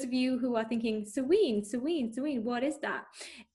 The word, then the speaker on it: Samhain: um for those of you who are thinking serene serene sweet what is that it's spelled like it should be pronounced samhain and for those of you who have watched the supernatural halloween episode about sam hayne they kind of get some stuff right um